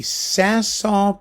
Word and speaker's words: Saint-Saëns: before we get started some people have you know said well you really should learn how to pronounce song you pronounced the S I didn't pronounce the S God forbid I didn't pronounce the S you know what I don't give a damn I never pronounce the S I'm not going to pronounce the S so get used to it thank you very much